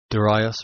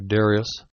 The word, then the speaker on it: Darius: the Persians as well daras or Darius I heard one man make fun of the some people's pronunciation of daras Darius but actually it's the same it's merely a a Greek or Latin trans rendering into English of of one or the other both are right I put the link